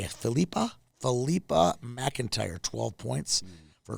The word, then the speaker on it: Philippa: Philippa spelled like Phillip with an A. Filipa.